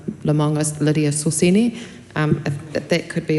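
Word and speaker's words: Lemauga Lydia Sosene: I believe it's um Lemongus Lydia Soseni.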